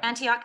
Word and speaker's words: Antioch: of the institute for humane education faculty at antioch university um is that how you pronounce it yeah antioch okay just wanted to check i was like